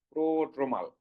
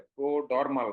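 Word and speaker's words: prodromal: সেগুলিকে বলা হয় কি প্রোড্রোমাল। মনে থাকবে, এটা কিন্তু অনেকে উচ্চারণ ভুল করে, প্রোডরমাল বলে, নো, প্রোড্রোমাল।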